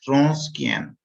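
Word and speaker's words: Wronskian: required uh and we here w is the silent so we say it like this wrong scan this is we speak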